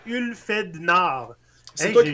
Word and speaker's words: Ulfhednar: Si tu regardes le nom là, ça se dit c'est Ulfed Nard.